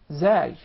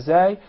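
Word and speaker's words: ز: way of pronouncing the Zay and its proper articulation point. Watch this. As. Your tongue never comes out of your mouth. Yes. As. And there is actually a whistling sound.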